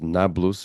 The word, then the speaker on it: Nablus: Now, the reason why it is known as Nablus is because it is an Arabic pronunciation of the Roman Neapolis. The Romans renamed the town of Shechem Neapolis, which means new city, polis, right? Like metropolitan. But Arabic does not have a P sound in its alphabet, which is